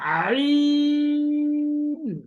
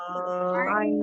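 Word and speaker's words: ع: আইন আইন আইন হুম যখন আপনি হা করে ফেলবেন তখন দেখবেন আপনার গলায় একটা এমনি চাপ পড়ে যখন পুরোপুরি হা করেন তখন গলায় এমনিতেই চাপ পড়বে ওইখান থেকে আইন উচ্চারণ করা শুরু করবেন আপনি হা করে ফেলবেন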